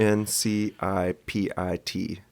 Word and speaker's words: incipit: I N C I P I T, incipit. So like insipid but with a T instead of a D.